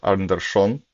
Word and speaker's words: Anderson: Uh, we didn't predict correctly the pairing with Matthias, so first table, Larry is playing Christopher Anderson, um, or as I was told, Anderson is correct pronunciation, and on the second table, we have an exciting game between Imre Lider and Michele Borassi.